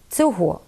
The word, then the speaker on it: цього: Займенники той, цей. Якщо їх відмінити, то в родовому відмінку однини маємо наголос на останньому складі. Того, цього. А коли ці ж займенники вжити разом із прийменниками, то наголос знов переходить на перший склад. Отже, правильно сказати «до того», «після цього».